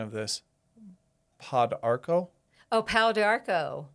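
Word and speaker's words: pau d'arco: And you might help me with the pronunciation of this. Podarchco. Oh, powderco. Say it again. Pow diarco. Pow diarco.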